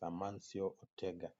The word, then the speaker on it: Amancio Ortega: Manchester United and at number two we have amancio ortegrity their pronounce that race is amancio Ortega Ortega now Ortega is a clothing magnet having